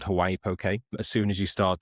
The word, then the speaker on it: Poké: Yeah, Poké, everyone pronounces it differently. And I've been in Hawaii, even in different parts, I've heard it differently. And it's one of those terms where it's Pokey, Poké, Pocky.